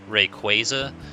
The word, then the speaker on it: Rayquaza: Because, like, understand Quasar, so it'd be Rayquaza, but Rayquaza sounds much better.